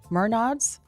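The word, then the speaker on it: Menards: The Arca Mernods series.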